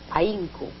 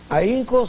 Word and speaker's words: ahínco: Hay una vocal fuerte y una vocal débil, porque la H en ese caso no tiene sonido. Así es. Para poder pronunciarla como debe ser, ahínco, tenemos que ponerle la tilde y rompemos el diptongo.